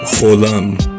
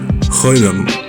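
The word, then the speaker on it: חוֹלָם: We are now discussing the letter cholam, or in Ashkenazi Hebrew, cholam. Now, these vowels, again, depending on your dialect, make two different sounds. In Ashkenazi Hebrew, this can make the O sound, but it can also make the Oi sound.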